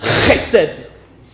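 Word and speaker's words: חסד: Ça se prononce chesed, avec un R bien guttural.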